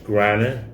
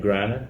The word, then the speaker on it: Griner: he said speaking of miss greiner brittany griner that's where you pronounce her name okay she's been over